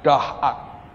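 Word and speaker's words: דעת: knowledge dari bahasa aslinya dahat dan kata itu tulisannya daat biasa bacanya dahat dan kata dahat dari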